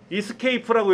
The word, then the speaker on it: ESC: 요거는 요렇게 읽어요. Escape라고 읽어요.